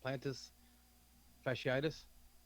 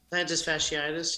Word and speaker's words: plantar fasciitis: what do you say how do you say it plantus fasciitis right plantar fasciitis yeah okay okay yeah